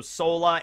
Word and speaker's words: Sora: i was a kid when i first read sora knight of the sea by the way the name sora sometimes it's also sola it's the same issue with sanji's mother who